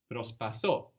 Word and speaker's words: προσπαθώ: But with I try, we have the accent on the end. Προσπαθώ. So there's a group of verbs in Greek that have their accents on the end, like this one, προσπαθώ.